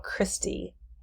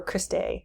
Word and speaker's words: cristae: height these folds are called christie or cristae sometimes i'll pronounce one of those two ways and then inside of